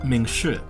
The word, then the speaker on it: 明仕: stickers, photos from her favourite destination, which is pronounced Mingshi, it's down in Guangxi province, photos with her kids, etc, etc.